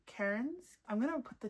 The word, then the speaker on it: Cairns: Instead of saying hair, we want to stop the pronunciation, keep our mouth open. Cairns. Okay. Cairns. It's Cairns, guys.